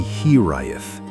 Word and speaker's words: hiraeth: There is a Welsh word, hiraeth, pronounced roughly here-eye-eth, that has no direct English translation.